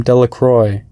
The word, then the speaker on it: Delacroix: and Harry Jones and Dicky Delacroix the villagers pronounce his name Delacroix eventually made a great pile of stones in